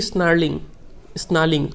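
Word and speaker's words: snarling: He should be स्नार्लिंग, आर यहाँ पे silent होता है।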